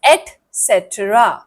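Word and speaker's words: etcetera: सो the answer to this is एसेट्रा ठीक है एसेट्रा सिट्रा नहीं एक्सट्रा बताओ क्या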